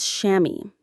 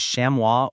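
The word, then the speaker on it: chamois: Our 13th word is shammy. C h a m o i s. Shammy. The IPA is shamwa or shammy. The s is silent.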